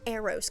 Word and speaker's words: Aeros: It's Aeros, guys. I have been saying it wrong almost this entire time.